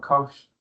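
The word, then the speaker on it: cosh: So you need to learn that definition for shin x similar to hyperbolic cos we call that kosh that will make sense.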